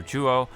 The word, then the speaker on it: Turo: Because if you do look at her artwork along with the Violet Pokemon Professor, Turo or Chuo, depending on how you want to pronounce it.